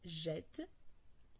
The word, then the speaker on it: jette: après la voyelle E, quand on a une double consonne identique, la première elle a la même fonction que l'accent grave, c'est-à-dire d'ouvrir la voyelle. Et là, c'est un E qui doit être prononcé tel s'il avait un accent.